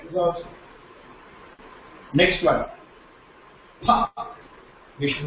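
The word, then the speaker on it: प: You have to put both the lips together and say pa.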